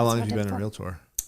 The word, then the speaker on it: realtor: It's realtor.